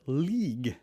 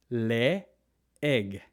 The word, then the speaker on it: leeg: use that example because there are two e beside each other and normally we would pronounce this as league league or need like need in in English right but in Tagalog you PR pronounce both vowels separately Le egg Le egg Le egg and never League Le egg Le EG